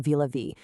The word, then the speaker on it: Vilavi: Enter Vilavi T8 Extra, pronounced Vilavi.